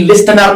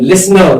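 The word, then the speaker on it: listener: हम जी लिस्टनर नहीं पढ़ते हैं, लिसनर। क्या पढ़ते हैं? लिसनर, क्योंकि इसका जो टी होता है मित्रों वो हमेशा साइलेंट होता है, ठीक है।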